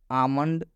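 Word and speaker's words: almond: बताया गया है कि जब भी एम से पहले एल आता है तो इस एल का उच्चारण नहीं किया जाता है। क्लियर। लास्ट, आमंड, आमंड मतलब होता है बादाम।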